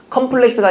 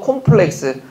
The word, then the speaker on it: 콤플렉스: 컴플렉스가 아니고 콤플렉스.